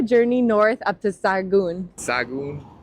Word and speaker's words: Sahagún: Sahagún. I think the H is silent.